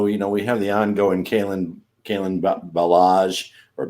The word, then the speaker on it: Kalen Ballage: Ballage. Maybe it's the Ballage when he's doing well. Yes, it's like a French dessert, It's Ballage when he's not doing so great.